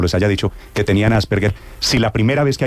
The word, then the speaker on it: Asperger: psiquiatra llamado Hans Asperger, que es Asperger, que no se dice Asperger ni Asperger, sino Asperger, porque es un apellido austriaco alemán, que es un médico psiquiatra austriaco de habla alemana, y se desempolvó a